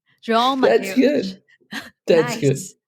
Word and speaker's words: João Mateus: 欢迎来到 Creates，我是你的主持人安吉。在这个节目呢，我喜欢和来宾们聊聊关于数位游牧、写作、艺术和身体训练的不同主题，探索如何活出最精彩的人生。Today, the guest of my podcast is João let me pronounce it again. João Mateus. João Mateus.